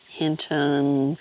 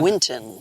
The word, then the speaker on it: Winton: it it was like Hinton while you're doing that Winton Winton that was Winton because I wanted to call it Winston but it's winter it's a Winton yeah and then and